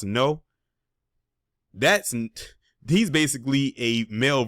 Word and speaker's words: Ngo: Andy no the one his last name is spelled NGO but I believe I believe it's pronounced no that's he's basically a